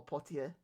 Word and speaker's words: Poitiers: On his way home, he was ordained a priest by the Bishop of Poitiers, or Poitiers, if we're going to pronounce it the French way.